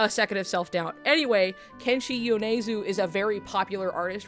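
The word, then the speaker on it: Kenshi Yonezu: Kenchi Yunesu that I did say it right and then I was like why did I I had a a second of self-doubt. Anyway, Kenshi Yuneu is a very popular artist right now.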